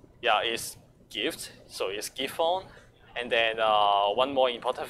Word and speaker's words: Giffon: thing is that actually the pronunciation of key phone is kind of similar to a cap fund which is which means split view in Cantonese yeah so actually there